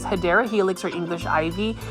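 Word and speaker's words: Hedera helix: are a spidermite magnet they're kind of like hedra helix or the correct way to say is hadera helix or English ivy it's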